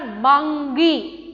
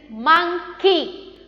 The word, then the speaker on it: monkey: Children, it's not mungy. It's not mungy. It is monkey. Pronounce it as monkey.